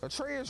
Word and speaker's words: Atreus: to go with Reyes atreus rhymes with Petraeus his ass and all